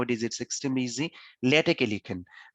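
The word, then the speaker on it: LaTeX: ইজ it's extremely easy, লেটেকে লিখেন। উচ্চারণটা হচ্ছে লেটেক্স নয়, লেটেক। টেক্সটাইল ইঞ্জিনিয়ারিং আপনাদের আছে, উনারা হয়তো বলবেন যেটা লেটেক্স, কিন্তু আসলে যিনি এই লেটেক বানিয়েছেন উনি বলেছেন টেক বা লেটেক। সেই ক্ষেত্রে আমরা লেটেক বা টেক বলবো।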